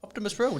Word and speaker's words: Optimus Brill: How do you say it properly? Optimus Brill. Just You said it fine just then.